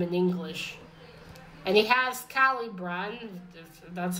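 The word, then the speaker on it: Caliburn: you'd say them in English and he has Kylie Brian that's how you pronounce his name it was a very smart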